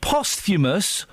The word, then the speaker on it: posthumous: Dave, very quickly, before I let you go, is it pronounced posthumous or posthumous?